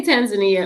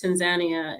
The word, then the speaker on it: Tanzania: You just came back from it, and pronounce the name for me correctly. So we say Tanzania over here, but I got corrected several times over there by some of the locals, and this Tanzania is how they pronounce it over there.